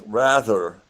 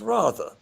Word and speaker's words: rather: Consider the English word rather, which in American English is rather. Now, English speakers might often think that English is more archaic, but actually the pronunciation rather is the older pronunciation.